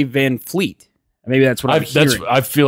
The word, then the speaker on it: VanVleet: people call it that why do they pronounce it that way there's no F why is it van vanvleet fleet is it yeah yeah band fleet yeah eet I only hear anybody say van fleet maybe that's what I